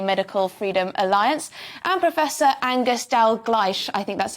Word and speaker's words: Angus Dalgleish: co-founder of UK medical Freedom Alliance and Professor angerstell gleich I think that's how you pronounce it yes the principal of The Institute